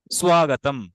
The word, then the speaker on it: স্বাগতম: তহলে সু উচ্চারণ মানে সংস্কৃত প্রত্যেকটা লেটারের ইন্ডিভিজুয়াল উচ্চারণ করতে হয় পৃথক পৃথক উচ্চারণ করতে হয় সুযোগ আয়া স্বাগতম ঠিক আছে স্বাগতম এবার দ্রুত বলতে গিয়ে অনেক সময় স্বাগতম স্বাগতম স্বাগতম হয়ে যাচ্ছে বাট একদম প্রাইমারি স্টেজে আমরা আলাদা ইন্ডিভিজুয়াল ফোকাস দিয়ে উচ্চারণ করব স্বাগতম খুব সুন্দর একটা আমার